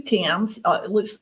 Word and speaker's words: Thames: My name is Thames. It's pronounced like the Thames River in England. A lot of people mess it up and call it Thames, but I don't really care.